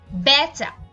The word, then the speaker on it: বেচা: এ এর মত হয় যেমন বেচা এখানে আমরা এ কার যুক্ত একটা একাক্ষর ধাতুর সাথে আ প্রত্যয় যুক্ত করেছি ব্যাচ থেকে হয়েছে বেচা এবং সেই এ কারার উচ্চারণটাকে আমরা বিবৃত করি বেচা একইভাবে আমরা বলি খেলা